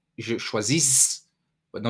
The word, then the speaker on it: choisis: You don't say je choisis, but no, you do not pronounce the last S.